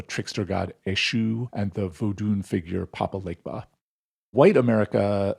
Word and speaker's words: vodun: When we say voodoo, that's like a mispronunciation of vodun or voodoo, and we're just like